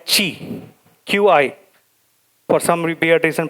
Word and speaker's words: Qi: wireless power Consortium that defines a spec called Chi Qi for some be reason pronounced asqi so Chi adds authentication the folks